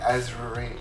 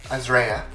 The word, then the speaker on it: Azrea: And my friend Dakota, aka Azri, I always say it wrong. Azrea. There are just like so many A's in that name that I just get confused.